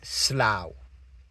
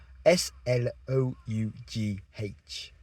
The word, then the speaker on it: Slough: So, one which is quite fun is slow. S l o u g h. Okay. Slow. Now, how on earth would you say that if you didn't know? Well, it's kind of like slow you could get away with or slough maybe. But no, no, no. It's slow like a cow.